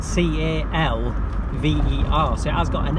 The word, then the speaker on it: Calver: always known it as Carver. It is spelled C-A-L-V-E-R, so it has got an L in it, but I've always known it as Carver, like it's a silent L, but she's convinced it's